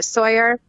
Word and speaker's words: Sawayer: It's still pronounced like Tom Sawyer, though.